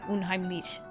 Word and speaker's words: unheimlich: Also, I saw Nyoma's comment about my pronunciation of so it's unheimlich? Like, yeah, unheimlich.